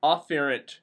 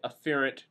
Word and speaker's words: afferent: these are carried on Sensory neurons are afferent neurons and I emphasize the A on this okay afferent neurons but in class I don't pronunciate the word exactly right because I'm trying to